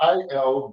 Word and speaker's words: Al Ghul: His name is spelled A-L-G-H-U-L.